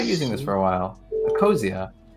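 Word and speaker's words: Ecosia: org i tried using this for a while a cosia it's a circle yeah that plants trees yeah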